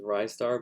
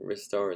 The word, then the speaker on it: Ristar: Next up is Ristar, which some people might pronounce as Rystar, but it is a star that reaches for stuff with his wrists, so I think Ristar is probably the proper pronunciation.